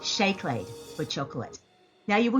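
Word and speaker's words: seacláid: it looks like see play that is actually pronounced shake laid for chocolate now you will notice that the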